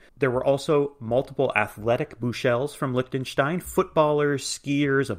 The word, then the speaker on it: Buechele: pronounced a million ways buchelli buckley buchell there have been a couple people kind of hacking it up a little this name is of german heritage the americanized version of